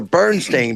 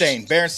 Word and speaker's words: Berenstain: Thundercats, the Wuzzles, and is it the Berenstain or the Bernstein Bears? Berenstain Bears. Berenstain Bears spelled with an E.